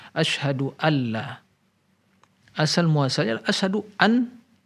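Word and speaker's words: أشهد أن لا: jadi seolah disini Nurmiati nun sukun nya tidak diucapkan tapi langsung diilhamkan asyhadualla asal muasal LKS Aduh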